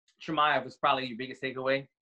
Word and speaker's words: Chimaev: So it's spelled Khamzat. So Khamzat. Chimaev.